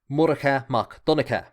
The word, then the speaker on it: Murchad mac Donnchad: During his lifetime, it would most likely have been pronounced Murchad, but by sticking in a few H's, we get the modern pronunciation, Murchad mac Donnchad, which is what I tend to use.